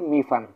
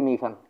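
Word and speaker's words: 米饭: এই দুইটা যদি আমরা উচ্চারণ করি, মিফান, এই দুইটার উচ্চারণ হচ্ছে কি, এই দুইটা, এই চাইনিজ এবং এই চাইনিজ, এই দুইটার উচ্চারণ কিন্তু হচ্ছে মিফান।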